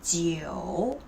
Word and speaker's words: 酒: That's why alcohol in Chinese is 酒酒. Even you cannot see the O here, but you still have to pronounce it.